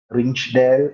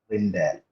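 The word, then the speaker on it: Rijndael: It was approximately 2001 when algorithms came pouring in, and it was the Rindael cipher. Okay, you write this as RINJNDAEL. Rinchdale എന്ന് എഴുതിയാലും you pronounce this as Rindale.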